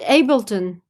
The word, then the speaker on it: Ableton: How do you spell it? Ableton.